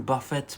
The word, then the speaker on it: buffet: It's written buffet, but it's pronounced buffet, yeah? It's a French word for 10 pounds or dollars.